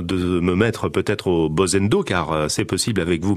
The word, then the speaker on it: Bozendo: Je le disais à l'instant avec vous, on va parler de Bozendo ou Bozendo, comment on prononce exactement? On prononce Bozendo.